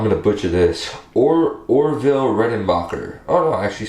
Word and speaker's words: Orville Redenbacher: these uh i'm going to butcher this or orville redenbacher oh no i actually said it right um